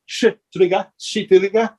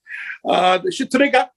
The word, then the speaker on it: Shtriga: So the areas of Albania, you're going to have folklore, and it's spelled Shtriga. So it is Shitriga. It sounds like something else. I'm sorry. There's no other way to say it, right? Shitriga.